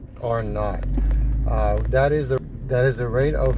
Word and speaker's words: R naught: So R naught, it's written as R0, which is usually pronounced like N-O-U-G-H-T, R naught.